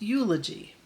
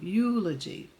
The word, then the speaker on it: eulogy: And it's pronounced eulogy, like the letter U, eulogy.